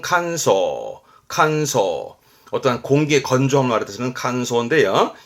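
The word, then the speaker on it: 乾燥: 발음은 칸소.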